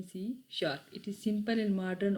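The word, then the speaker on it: C#: Then हमारे पास क्या है, सी sharp. सी hash is a pronounce as सी sharp. इसको हम सी शार्प सी हैश, ये बेसिकली साइन क्या है, हैश का है, लेकिन इसको प्रोनाउंस करेंगे सी शार्प.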